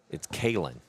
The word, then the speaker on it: Kalen: So, it was Joe told me how to pronounce it's Kalen. Kalen is how you pronounce his name.